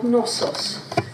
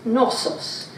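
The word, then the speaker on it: Knossos: must be the real nosos and it's spelled k n k nosos and the story comes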